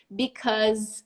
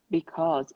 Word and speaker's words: because: Some people pronounce, you know who pronounces because? Ross does. Because. Yeah, that's true. Why? Ross does. I don't know. It's a way to pronounce it. Some people say because. Very like open. I don't say, I say because. But either way, it's not because.